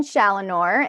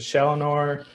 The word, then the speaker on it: Challenor: Some folks pronounce it Challenor. It's very different ways, but yeah, you pronounce it perfectly. Again, I'm Challenor.